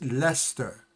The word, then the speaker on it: Leicester: Bath and again, I used to say Leicester, but it's not Leicester, it's Leicester. Leicester. Is the right pronunciation of that.